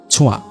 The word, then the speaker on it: ছোঁয়া: আমার নাম ছুঁইয়া না, ছোঁয়া, সুন্দর নাম।